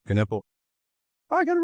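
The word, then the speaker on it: Knueppel: How do you pronounce Kanipple? Caniple. Caniple.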